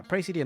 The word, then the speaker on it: praesidium: Yeah, praesidium, that's how you say it.